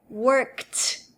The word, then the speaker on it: worked: caso do verbo worked, o ED se pronuncia com som de T. Então, worked.